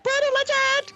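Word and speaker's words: Brütal Legend: So it's actually pronounced Brutal Legend? It's actually pronounced Brutal Legend!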